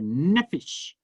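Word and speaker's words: נפש: to be pronounced differently i will say nausea for aramaic and i would say nephesh for hebrew but what it means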